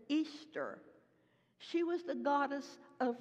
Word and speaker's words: Ishtar: the worship of Ishtar we pronounce it Ishtar they pronounced it Easter she was the goddess